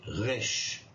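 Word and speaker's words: ריש: Et puis le resh va se prononcer resh, re, comme ça, re normal, ou re, vous voyez, avec roulement de la langue, voilà.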